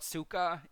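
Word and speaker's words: tsuka: you remove the hill which is called Suka in Japanese it's TS U Ka you should end up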